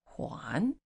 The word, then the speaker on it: 还: a new word return juan here juan is returned and juan and hi the same word but a different pronunciation okay pay attention to